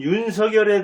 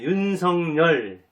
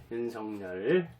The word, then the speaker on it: 윤석열: 과정 연기 입니다 오늘은 윤석 열에 대해서 한번 생각해 보겠습니다 본래 발음은 윤석열 g 않는데 윤석렬 이렇게 발음을 해 달라고 부탁을 한다고 합니다 이런 성녀 10 이렇게